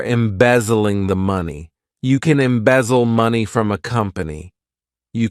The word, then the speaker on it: embezzle: next verb is a good one embezzle to embezzle this verb has three syllables and the stress is on that second